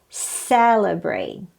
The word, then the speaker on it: celebrate: great third syllable next people pronounce this a celebrate celebrate but the correct pronunciation is celebrate the stress is on the first syllable celebrate again people say